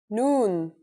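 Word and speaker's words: ن: The noon is pronounced just like the English N.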